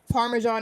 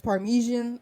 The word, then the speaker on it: Parmesan: the universe where they they pronounce Parmesan as Parmesian or something.